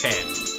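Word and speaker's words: ペン: LP it was but pen in Japanese is pen there is literally no difference whatsoever like in romang it's spelled pen pronunciation it's pen just pen and you know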